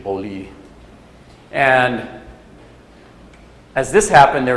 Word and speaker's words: Beaulieu: Yeah, in the French pronunciation, Beaulieu.